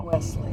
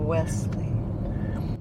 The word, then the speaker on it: Wellesley: Wesley, you were saying West. Oh, I'm sort of. Wesley.